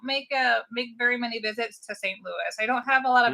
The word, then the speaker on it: St. Louis: Well, that's because you're saying it wrong. It's St. Louis. Down on the farm, down on the water, St. Louis.